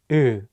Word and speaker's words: 으: The vowel 으 has the same tone position as the Korean vowel 우, but the shape of your mouth is wider.